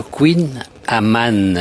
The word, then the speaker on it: kouign amann: un délicieux gâteau breton le Queen Amman j'arrive à le prononcer quand même et nous sommes avec Cédric